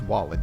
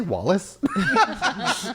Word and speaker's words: Wallen: Also, I said his name wrong. It's Wallen. Did I say Wallace?